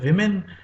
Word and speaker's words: women: So, this word is pronounced as women when it is a plural, and woman when it is a singular.